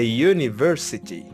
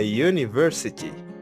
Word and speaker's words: university: for example we have this you here it's pronounced yeah a university a university another example a user a user another one